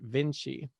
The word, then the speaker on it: Vinci: So in the number the random number generator, it was just one off from a 1-star review, and their review was, it's pronounced Vinci, and I wasn't really sure what they were talking about.